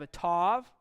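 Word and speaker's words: אַתָּה: And you have a tav, T sound, ah, ta. Ata. Very simple word. Ata means very simple English word, now. At last. Usually now. Behold, now I will act. Ata, if you'll notice, has a Dagesh in the tav there.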